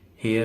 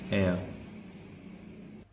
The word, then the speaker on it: air: हेयर नहीं इसको बोलेंगे, इसको हम पढ़ेंगे एयर।